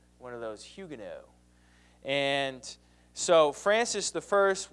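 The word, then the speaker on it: Huguenots: Protestants there are called Hugo spelled hugenots but pronounced Hugo and so if you were a follower of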